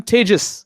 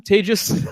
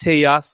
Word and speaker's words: Tejas: Um, I'm Tis. That's pronounced like contagious. Okay. It's uh people have a hard time with this. It's not teas or teas or whatever you want to call.